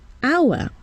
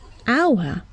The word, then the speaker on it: hour: For example, hour. We see an H, but we hear a vowel sound at the beginning, hour, and not hour.